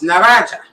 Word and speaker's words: na razie: It's na razie.